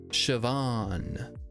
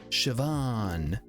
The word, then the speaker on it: Siobhan: Siobhan. Siobhan. Guess what? There's a B and an H in there. It is spelled that way, but what do you mean in another language?